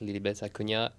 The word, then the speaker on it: Acuña: So maybe just a cu na. Yes. Love that you pronounce my name correctly.